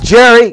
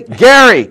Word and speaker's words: Gerry: Not Jerry, Gary, Okay. Gary, gerrymandering. How do you know it's Gary? Because it was Governor Gary. All right, but how do you know that Gary pronounced it that way? How else could you pronounce a G other than G?